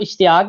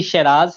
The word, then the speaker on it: Sheraz: मेरा नाम इश्तियाक नहीं है, मेरा नाम बेसिकली शराज है।